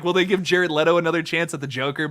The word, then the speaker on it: Jared Leto: of tied to that kind of like how jared leto is unfortunately tied to the worst version of